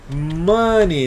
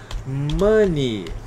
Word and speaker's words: money: escrito a pronúncia é money Essa é a pronúncia da palavra money money Então as palavras que terminam com e y em inglês geralmente a gente pronuncia só I no final né então por exemplo